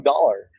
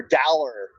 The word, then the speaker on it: Dowler: and it was Taco Dollar, or Dowler. Is just how you pronounce his last name, but in the stadium last week it was Taco Dollar or Dollar Taco if you put his last name first, which I'm all for.